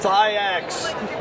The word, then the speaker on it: TYAX: TYAX.